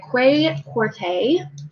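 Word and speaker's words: Kwei Quartey: I read Wife of the Gods by Quay Corte. I looked up how to pronounce his name, so that is correct.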